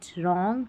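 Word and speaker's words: wrong: क्योंकि ये जो शुरू में डब्ल्यू आ रहा है ना ये साइलेंट है। आर का उच्चारण हो रहा है र। तो इसलिए डब्ल्यू आर को पढ़ा गया र। Right रॉन्ग rap wrist. W का उच्चारण हो रहा है? नहीं। डब्ल्यू साइलेंट है।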